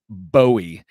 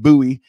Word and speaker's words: bowie: uh was again someone very concerned about my pronunciation of the word bowie and he says I'm very happy to hear you pronounce buoy correctly uh I do appreciate your uh your